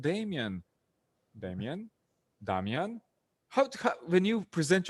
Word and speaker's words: Damjan: outside world from croatia in croatia you'll be damian but do you sometimes go to that like i'm damien no i don't have to do that i say damian but they always pronounce it damian and it's even worse when they see it written they say damshan oh so so sometimes